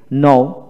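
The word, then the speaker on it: know: নো নো নিউ নিউ এখানে কে এর উচ্চারিত হবে না নিউ নো বানান করার সময় কে এন ও ডব্লিউ নো নিউ এন ই ডব্লিউ নিউ কে এন এর উচ্চারিত হবে না নোন নন এন ও ডব্লিউ এন নন এখানে কে উচ্চারিত হবে না নন নন তারপর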